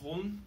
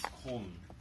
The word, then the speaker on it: Köln: It's pronounced Köln, but I can never say it right because it's, like, a weird sound, but it's Köln.